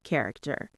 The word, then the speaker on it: character: The stress is on the first syllable, care. Say it with me. Character. It's like care, but with a K sound at the end of the first part.